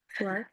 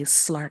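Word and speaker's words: SCLARC: for the work that Slark or Sklark? I want to make sure I'm saying it correctly. Slark? Both work. Okay. I especially love. I use a soft C, Slark.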